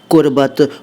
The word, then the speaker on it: क़ुर्बत: उच्चारण अगर नहीं आता हो तो सीख लीजिए। क़ुर्बत क़ुर्बत क़ुर्बत, पहले मैंने कुर्बत बोला, अब क़ुर्बत बोल रहा हूँ। कुर्बत अलग है, क़ुर्बत अलग है।